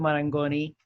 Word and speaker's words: Marangoni: you were in london opening the institute of marangoni and then right did i say it right